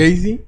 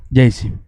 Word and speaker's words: Gacy: Le voy a platicar la infancia de este individuo, que lo voy a llamar Gacy, porque me da hueva pronunciar todo el nombre. ¿Jay-Z? Gacy.